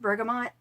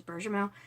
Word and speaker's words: bergamot: And I've heard this pronounced bergamot. I've always pronounced it the French way, which is bergamot.